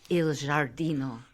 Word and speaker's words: Il Giardino: You just want to say Il Giardino. El Giardino. Okay.